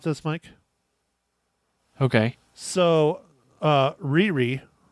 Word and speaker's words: Riri: know um the character Rory so I have a theory about this Mike okay so uh Riri is actually how you pronounce her name is it's okay I'm